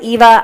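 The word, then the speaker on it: Yva: first one is called why VA they pronounced it Eva I don't think it looks like Eva but they didn't ask me Eva now I have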